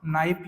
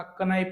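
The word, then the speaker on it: knife: आपण उच्चार करत नाही जसं की काय नाईफ या शब्दामध्ये आपण के चा उच्चार करत नाही आपण नाईफ म्हणत असताना क नाईप नाही म्हणत किंवा आपण नॉलेज म्हणत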